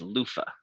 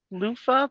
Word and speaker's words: Lofa: And then the snow elemental liked to sing and his name was Lofah.